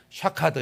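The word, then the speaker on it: שָׁקַד: 자음만 쓰고서 샤드 샤카드 이렇게 있는데 샤케드는 살구 꽃이에요. 근데 동일한 단어를 다른 발음으로 샤케드가 아니라 샤카드로 발음하면 얘는 일어나라, 깨어나라 이런 뜻입니다.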